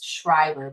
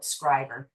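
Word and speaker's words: Schreiber: I always pronounce this place Shrivever, but they don't. They call it Scriber. So, okay, we'll go with the local pronunciation.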